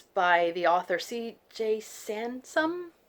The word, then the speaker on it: Sansom: Sansom, I think it rhymes with ransom, and it's about a